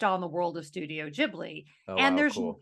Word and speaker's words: Ghibli: a lot of Studio Ghibli stuff oh I mean beautiful I always pronounced Studio Ghibli but turns out it's actually pronounced Ghibli and we watch like